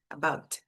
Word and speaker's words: about: A língua para aqui atrás dos dentes antes de você falar o som de que é um t bem fraquinho, about, about.